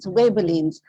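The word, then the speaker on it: Ghibellines: So this too is spelled with GH, but it is pronounced as Webelines.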